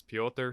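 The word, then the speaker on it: Petr: what his name is everyone pronounces it different but I'm gonna go with he says it is and he says it's Peter so we'll go after ya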